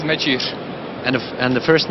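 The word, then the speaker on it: Mečíř: Thank you for the congratulations, and pronunciation is Mecic.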